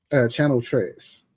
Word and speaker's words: Channel Tres: Channel Tres. Channel. Yeah, Channel and then Tres, Tres.